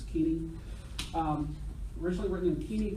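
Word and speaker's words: Koine: in three different genres originally written in the queen Keen or Co depending on how you learn to pronounce it until I took Greek and Seminary was po that now it's Keeny um originally written in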